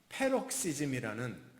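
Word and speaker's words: paroxysm: 이 뜻이 뭐냐면 굉장히 좀 독특한 단어인데, 여기서 파생된 영어 단어, 의학적인 용어, 또는 심리학적인 용어가 페록시즘이라는, 그렇게 발음합니다.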